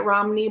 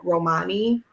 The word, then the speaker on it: Romani: My Aunt Irene always pronounced it Romney, but yeah, it's going to be Romani is how many people would say it.